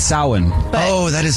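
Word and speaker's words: Samhain: She just pronounced it wrong. Yeah, she said Sam Hayne, but it's sin.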